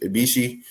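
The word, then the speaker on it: Ibushi: We had Okata versus uh Bishi Ibishi, that's how you say his name.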